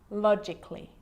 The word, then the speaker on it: logically: Now, the letter A can be silent, especially in words that end in A-L-L-Y, like these. Romantically, musically, logically. So I'm not pronouncing romantically, musically, and logically. Cut the A out.